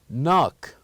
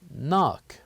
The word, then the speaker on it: knock: K and N so the K here is silent and we only pronounced the n and we said knock